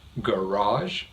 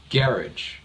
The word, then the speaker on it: garage: stresses the second syllable garage but the other pronunciation stresses the first syllable and the vowel sounds are slightly different I'm gonna say it twice listen carefully garage garage and the person that